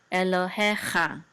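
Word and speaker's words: אלוהיך: The trope is over the he, so the accent is on he.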